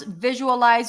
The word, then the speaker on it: visualize: How to pronounce visualize or visualization. Visualize. Let's practice the word visualize first. Visualize. Visualize. Stress is on the first syllable.